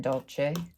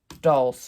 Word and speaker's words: dolce: I was pronouncing it wrong for a very long time because I never heard it spoken aloud. I always read it, and so I thought it was like, I don't know, dulce or dulce or something like that.